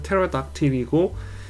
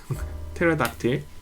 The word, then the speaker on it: pterodactyl: 이게 P를 발음 안 해요. PT 나오시면 T만 발음하고 P를 발음 안 해서 pterodactyl이고 그 pterodactyl이라고 하는 거는 우리나라 표현이죠.